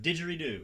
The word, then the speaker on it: didgeridoo: Didgeridoo.